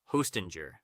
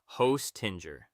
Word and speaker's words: Hostinger: You want jer, not gur, and not ger. Imagine the J sliding softly into that comfy Let's put it all together. Hostinger. Aim for an even, natural rhythm with a little more weight on the first part.